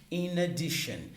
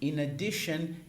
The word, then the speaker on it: in addition: como extremamente importante é in addition in addition de novo dá para lincar a pronúncia né ina tem o Ina aqui no meio in addition in addition então in